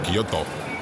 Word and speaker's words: Kyoto: And we're going to Guyoto. GTO is how they say it, by the way, cuz I'm half Japanese since I've been here.